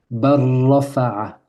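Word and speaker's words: بَل رَّفَعَهُ: Et pour fluidifier, pour faciliter la lecture, pour enlever toute lourdeur, la règle dit de sauter, de sauter le lam. Barrafa'a.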